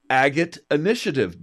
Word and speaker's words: Agate Initiative: changes, she recently founded Agate Initiative. The Agate Initiative. Did I say that right, Betsy? You said it right the first time without the.